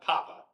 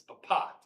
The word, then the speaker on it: Papa: It's not Quebec, it's Quebec. It's not Papa, it's Papa.